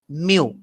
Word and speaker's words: mu: How to pronounce it? Mu.